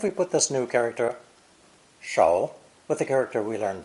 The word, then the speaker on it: 手: Our first example is the actual pictogram of a hand, pronounced with a third dipping tone. Shou, shou. All 5 fingers are represented.